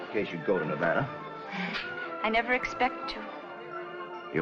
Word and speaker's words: Nevada: By the way, that's pronounced Nevada. I notice you give it the broad ah. I prefer it to a dreadful flat ah.